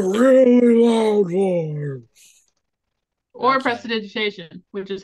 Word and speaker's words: prestidigitation: Prestidigitation, which is how you properly pronounce that word.